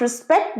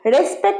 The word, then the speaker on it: respect: You must respect the elders. Respect না respect. Respect. রে নয় রি, pronunciation respect. আরেকবার respect.